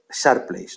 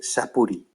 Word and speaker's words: Surplice: Se dice Sharples, no se dice Sapuri, ¿vale?